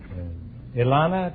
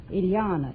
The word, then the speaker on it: Ileana: Ilana, is that right? Ileana. It rhymes with manana.